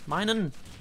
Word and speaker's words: Minun: Minun. Minun and Plusl. That makes sense, right? Yeah, that's how you pronounce their names.